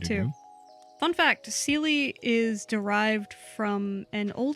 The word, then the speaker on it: Seley: But yes, it's pronounced Seley.